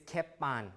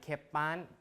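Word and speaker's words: cēpan: So in Old English, this is Keppan, right? Keppan pronounced with a K, although it was written with a C.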